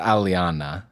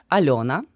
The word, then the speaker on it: Alyona: met an Alana, and I feel like I'm over pronouncing the Y in your name. It's not Aliana. Uh, you're right. Uh, I guess no one uh, in America pronounce my name correctly because it's Alyona. Uh, and it's very hard for American articulation to pronounce yo. You don't have this sound at all in your like sounds at least.